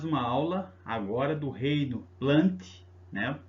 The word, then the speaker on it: Plantae: Vamos para mais uma aula agora do reino plant, né? Se escreve plantae, mas se fala plant, ou metáfita, tá bom?